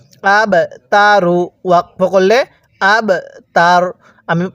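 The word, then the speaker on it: الْأَبْتَرُ: এরকম ভাবে পড়তে হয় আব তার র এর উপর পেশকে বাদ দিয়ে দিব এখন আমরা এই বা এর মধ্যে ধাক্কা দিয়ে পড়বো কারণ বা টা হলো কলকলার হরফ তাহলে কিভাবে পড়বো হুয়াল আব তার এরকম ভাবে শিখবো এবার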